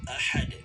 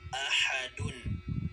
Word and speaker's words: ahad: ng isang aya, ay pwede na po na hindi natin bigkasin ang huling vowel, okay, or huling patinig na nakalagay sa dulo, sa huling letra ng isang aya.